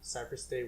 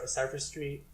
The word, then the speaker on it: CypherST8: You can just look up at Cypher State, which is spelled CYPHER, and then ST number 8. Yeah. Some people think it's Cypher Street or Cypher Street 8. Yeah. Or Cypher State. But it's not that.